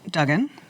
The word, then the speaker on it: Duggan: Well, Mayor Dugen is Dugen and I'm Dugan.